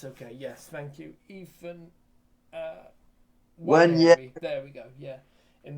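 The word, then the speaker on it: Nwaneri: And Declan Rice also assisted Ethan Wanyeri. Wanyeri, sorry, yes. Yeah, the N is silent. Yes, okay, yes, thank you. Ethan Wanyeri, there we go, yeah.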